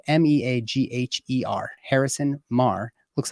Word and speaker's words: Meagher: You can find everything that Harrison is working on at Harrison Meagher, which is spelled Meagher. Harrison Meagher.